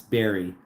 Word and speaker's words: Bari: Would you prefer me to say it Bari? You pronounce berry. Well, how else would you say it? Bari? Say berry like berry. Bari. Oh. Oh, that's how you say berry. Like an actual berry.